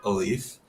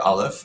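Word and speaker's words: aleph: like the idea of a leaf or Olive I think it's just a different pronunciation of that first letter in the Hebrew alphabet also spelled a-l-e-p-h um it looks like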